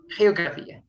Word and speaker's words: geografía: Here is pronounced as geografía. And also that comes to different accents. But in general, I would like to go with the Latin American because I think that's the most common one.